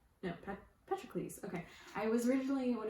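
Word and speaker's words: Patroclus: i was reading it i kept thinking it was petrolicus and then i started listening to audiobook and realized i was just reading the name wrong so yeah this follows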